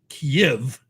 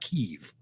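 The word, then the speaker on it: Kyiv: a green light and kiev that's how ukrainian say if not kiev right it's two syllables right yep if you're russian but if you're ukrainian kiev so it'll be gone it'll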